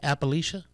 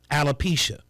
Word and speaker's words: alopecia: suffers from um how do you say it appalachia alopecia alopecia which is a condition of hair loss